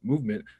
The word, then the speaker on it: MVMT: With fair prices, unexpected colors, and clean original designs, MVMT, pronounced Movement, grew into one of the fastest growing watch brands, shipping to over 160 companies across the globe.